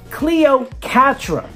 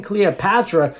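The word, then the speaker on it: Cleocatra: latest one we have Cleo Catra I'm saying it right this time Cleo Catra the reason why I'm saying it like that is because it truly was kind of hard I keep saying Cleopatra since that is the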